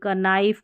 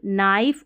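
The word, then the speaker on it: knife: करके पढ़ देते हैं, लेकिन आपको ऐसे बिल्कुल नहीं पढ़ना है, क्योंकि K जो है ना ये स्टार्टिंग वाला ये साइलेंट है। K से हमको शुरुआत नहीं करनी, उसके अगला जो लेटर N है ना उसको नॉ पढ़ना है, जैसे इसको नेक, नी, नीड, नाइफ और निट, इसको नाइट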